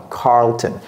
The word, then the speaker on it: Carlton: goes down yeah it's we call it a a dark L this is a dark L Carlon Carlton what do we Cody